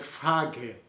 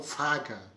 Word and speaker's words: Frage: Então ele estava falando aqui, por exemplo, da Suíça, que é Frage, com som de E no final, e não Frage, como é na Alemanha. As duas formas estão corretas, é só uma diferença de região.